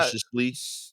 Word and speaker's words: surreptitiously: Uh, Surreptitiously. Surreptitiously. Yeah. Surreptitiously. Like syrup, sipping on some syrup, titiously.